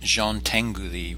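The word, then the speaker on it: Jean Tinguely: work within these limitations the next artist is pronounced Jean Tengu thee we have some interesting European pronunciations this week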